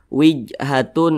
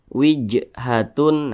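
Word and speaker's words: وِجْهَةٌ: bacanya itu dipantulkan nah ini huruf Jim dia sukun Nah berarti cara bacanya dipantulkan wij wij mantul seperti itu jangan dibaca seperti ini wijhatun Nah tidak ada pantulannya maka itu salah dia harus ada pantulannya wijhatun nah seperti itu Dan Dia tergolong kepada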